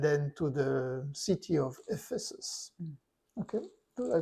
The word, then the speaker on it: Ephesus: of Caesarea and then to the city of Ephesus. Okay, did I pronounce it right?